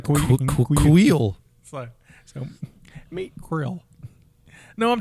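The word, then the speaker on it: Kuiil: It's like Kuhil almost, right? Kuhil.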